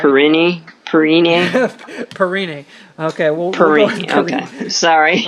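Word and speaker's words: Samaje Perine: Perrini. Okay, well, Perini. Okay, sorry. I know I slaughtered it. Samaje. Okay. Yeah, Samaje Pirine.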